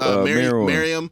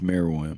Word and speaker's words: Meruem: Miriam. Yeah. And then it said, okay, Cell versus Miriam. How do you pronounce his name? I think it's Meruem.